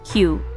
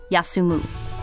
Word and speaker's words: 休: The kanji for rest, pronounced kyu or yasumu.